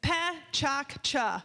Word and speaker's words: PechaKucha: just a really quick little introduction the correct pronunciation is Pat ChaCha that's the number one question we receive is